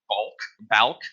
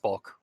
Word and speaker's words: Balk: That being said, in the case of Balk, I guess. No, it's bulk. It's pronounced bulk. Great. I love words that sound the same.